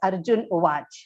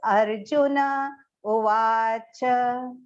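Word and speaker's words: अर्जुन उवाच: So Arjuna has to be properly pronounced. Arjuna Uvacha, completely pronounced. It should not be said as Arjun Uvach. It should be pronounced as Arjuna Uvacha.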